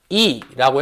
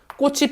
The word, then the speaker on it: 꽃이: 자, 요거 발음할 때 요 뒤에 있는 요 이. 무슨 형태소가 아니야? 실질 형태소가 아니죠. 그죠? 그래서 얘 발음 어떻게 돼? 꽃이. 꽃이 피어있다 할 때 꽃이. 요렇게 발음한다는 소리야.